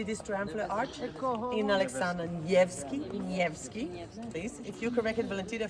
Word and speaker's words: Nevsky: In Alexander Nevsky, please. If you corrected Valentina for her pronunciation, please correct them.